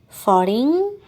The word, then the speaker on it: foreign: say plague dialogue prologue finally we have silent g for example sing campaign foreign all right well let's